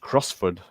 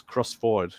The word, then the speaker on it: Crossford: used to think that crossford was would be pronounced crossford you know because it sounds Scottish I live